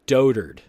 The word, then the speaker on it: dotard: I love that sound a dotard okay so that's how you say it dotard so if you read